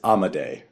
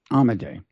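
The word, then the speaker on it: Amodei: his his last name I believe it's amade amade um who is a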